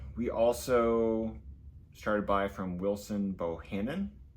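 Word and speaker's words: Wilson Bohannan: We also started by from Wilson Bohannon.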